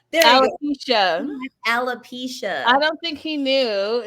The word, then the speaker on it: alopecia: Appalachia? No, it's oh my gosh. It's Appalachia. Hold on, wait, girl. I had this in my mind. You can cut this part out, right? Alopecia. Alopecia. Alopecia.